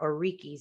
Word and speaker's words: Orikis: So in this chapter on Know Yourself, you talk about Orikis. Is that the right way to say that? That is. Okay.